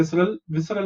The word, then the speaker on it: visceral: Okay, जो कुछ भी अंदर होगा उसको हम visceral material बोलेंगे. How do you pronounce it? V is vis, C is sir, R is ral.